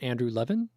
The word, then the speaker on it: Andrew Levin: I want to make sure I'm pronouncing your name right. Andrew Levin?